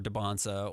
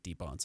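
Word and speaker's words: Dybantsa: and get Camboozer or Debonsa or uh or uh I should say Deb Bonsa, I should say his name, right?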